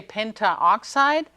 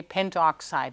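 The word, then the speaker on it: pentoxide: not so nice so we don't say pent oxide we just drop the A and say pent oxide it goes better um over the tongue it's easier to pronounce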